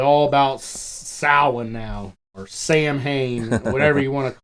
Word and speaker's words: Samhain: about Samhain now, or Sam Hain, whatever you want to call it. I think she calls it Samhain. Yeah, that, to my understanding, that is the proper pronunciation.